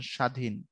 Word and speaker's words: স্বাধীন: বফলা মফলার যে উচ্চারণ রীতি ক্লাস 8 এর বই আছে দেখবা, বফলা থাকলে কখনো এর উচ্চারণ হবে, যেমন উদ্বাস্তু, দর নিচে থাকার কারণে কখনো উচ্চারণ হয় না, যেমন স্বাধীন।